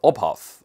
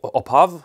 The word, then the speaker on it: Opphav: watches from norway and they're oppaf no apov of half is the correct pronunciation i think and it means origin